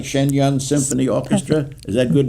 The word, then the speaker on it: Shenyang: Thorson Trey, are involved with the Shen, I say it right, Shenyang Symphony Orchestra?